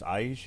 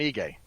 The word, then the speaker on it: Ige: So you have coverage for Korean Zombie versus Aige. Is that how you pronounce it? Who's he fighting? IGE. Oh, Dan Ige.